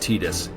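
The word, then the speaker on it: Tidus: Yes, I know it's pronounced Titus.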